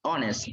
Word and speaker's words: honest: Todas, pero en este caso, estas se pronuncian honest.